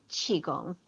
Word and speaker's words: qigong: uh that the and in actuality um it's pronounced tai chi in in chinese it's i g um so it's taiji and qigong so two different words taiji is a philosophy